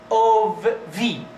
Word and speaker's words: of: This one is pronounced as of v, not if, of, one of you, one of you. This one is off, turn off the TV, turn off, turn off.